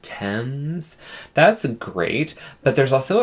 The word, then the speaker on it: Thames: Well, no, I just remember somebody was like, oh my god, you guys are saying Thames, River Thames. It's pronounced Thames.